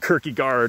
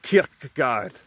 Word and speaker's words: Kierkegaard: philosopher called soren kierkegaard some people pronounce his name like quirky guard or kirky god but i'm pretty sure it's kierkegaard although correct me if i'm wrong soren kierkegaard